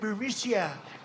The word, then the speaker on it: Burisma: executives so this uh buremisia bermucia they say pronounce it borisia a real beautiful company